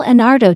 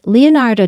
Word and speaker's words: Leonardo: if she realized that she had both mispronounced Leonardo da Vinci's name and called the Sistine Chapel The Sixteen Chapel fans like Reddit user